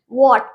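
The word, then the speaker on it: what: वॉट, इसमें W के बाद H है तो हम हार्ट तो नहीं पढ़ेंगे, वॉट पढ़ेंगे, वॉट, ओके।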